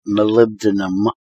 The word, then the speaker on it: molybdenum: in Merriam Webster and it's molybdenum is how you actually pronounce it no I just should